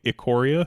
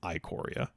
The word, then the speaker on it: Ikoria: I had been pronouncing it Ikoria, and apparently it is Ikoria.